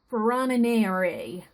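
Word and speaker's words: Ferronnière: I mean the Ferronniere, and that's spelled F-E-R-R-O-N-N-I-E-R-E.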